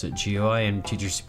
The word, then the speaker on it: GUI: It's you can say gui or gooey or jewey.